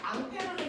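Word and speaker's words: Ampère: 법칙 이렇게 얘기해요 자 암페어는 낯설지 않은 사람인데이 사람 이름으로 단위도 만들었는데 암어 암페어 알겠습니까 그 사람이에요 됐어 2암페어 3암페어 그 사람입니다 그 사람이 원래 프랑스 사람이라서 이름이 페르데 미국놈들이 페어라고 읽어버린 거예요 알겠어 이렇게 된 겁니다 자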